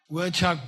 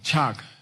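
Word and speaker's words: chags: Okay, let's do chak, dictionary entry, chak, C-H-A-G-S, chagasa chak. Chak can mean, it's not the chak in prostration, by the way, which is spelled completely differently. Although it's pronounced exactly the same.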